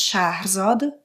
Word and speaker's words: Shahrzad: Je m'appelle Shahrzad, mais qui se prononce Shahrzad en farsi.